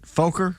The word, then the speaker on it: Fokker: on both sides of the war with his Fokker Air triplane, painted entirely red in tribute to his old cavalry regiment. Is that how you pronounce it? Fokker?